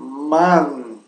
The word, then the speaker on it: Mann: bem, fechar bem a boca para que a N final soe corretamente. Então, imagina ter que depois de la N há uma pequena E inapreciável E. Então dizemos man. Tá? Então, der Mann se pronuncia.